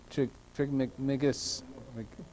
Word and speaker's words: Trismegistus: Trismegistus. Pronounce it for me, please.